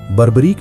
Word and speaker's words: बरबरीक: बाबा खाटूश्याम का असली नाम बरबरीक था। कोई इसे बारबरीक भी प्रोनाउंस करते हैं।